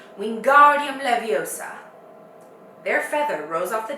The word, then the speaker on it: Wingardium Leviosa: having much more look Wingardium Leviosa he shouted waving his long arms like a windmill you're saying it wrong Harry heard Hermione snap its Wingardium Leviosa make the GAR nice and long you do it then